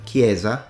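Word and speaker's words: chiesa: in the word Kane or a CH like in the word kiesa people in Tuscany who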